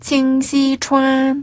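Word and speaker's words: 清溪川: 같아요네 서비스죠네 칭시 une네 칭시 추 칭시 추 추가 약간 투랑 섞인 거 같아요네 약간 혀를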